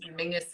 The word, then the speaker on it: Menzies: that for anybody else mingus is how weirdly the scottish people um that's that's how they would pronounce menzies i don't understand where the g comes out of it but that's it a little weird yeah but it is